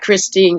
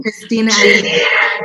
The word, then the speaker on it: Christina: they did such a fantastic job and that christine aguilera is that how you say her name christina yeah she laid it out she she's she's